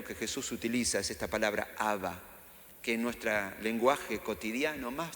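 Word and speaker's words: אבא: que se traduce por padre es la palabra haba así se pronuncia de hecho en alguna parte de la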